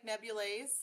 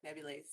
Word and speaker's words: nebulaezz: name by the way so it's pronounced like nebulae like neverland is so like nebulae yeah okay okay uh